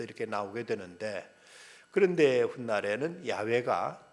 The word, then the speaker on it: 야훼: 붙였더니 이것이 여호와 또는 이제 그 영어로는 제호바라는 발음이 여기서 이렇게 나오게 되는데 그런데 훗날에는 야훼가 더 원음에 가깝던 것으로 이렇게 이제 학자들은 발견하게 됩니다.